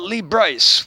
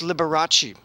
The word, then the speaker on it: Liberace: a little reference point always used to talk about lee bryce which is a pronunciation that i think she learned from her mother for a performer the rest of us know as liberace oh my gosh liberace